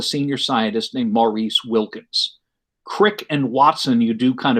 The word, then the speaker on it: Crick: the left british scientist francis crick which rhymes with prick and did i say